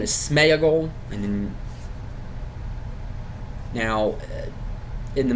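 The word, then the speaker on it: Sméagol: his real name is Smeaggle and then now in the movies they pronounce it Smegel but that is not how you pronounce that. There is an accent over the e that means something.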